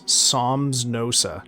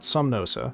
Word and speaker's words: Somnosa: Oh, I've been pronouncing his name wrong the whole fucking time. It's Somnosa, not Somnosa.